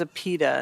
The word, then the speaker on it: APIDA: So it says APIDA, and that's how I'm going to pronounce that.